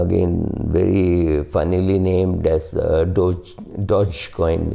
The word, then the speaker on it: Dogecoin: Dogecoin, again very funnily named as Dogecoin. It's not DJ. I mean, it's pronounced as J, not as G, right?